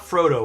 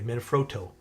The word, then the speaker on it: Manfrotto: No, not Frodo. Froto, I should say. Manfrotto. I need to pronunciate it more.